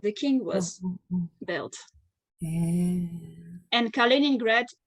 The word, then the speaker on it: Kaliningrad: What is the how do you pronounce the country's name again? So the city, Mm. the main city, it's called Kaliningrad. Kaliningrad.